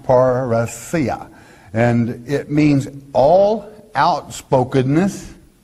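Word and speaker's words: parrhesia: paracia paraisia it is spelled p-a-r-r-h-e-s-i-a and again pronounced parasia and it means all outspokenness it means frankness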